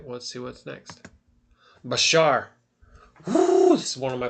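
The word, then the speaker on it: בשר: But so like if you look in so if we look in the sephr they're going to write it like this I think basura like this right but it's actually bashar which I'm going to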